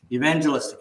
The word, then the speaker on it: evangelistic: Don't break it up into syllables like that. Just say it like football. Evangelistic. Evangelistic. There you go. Evangelistic.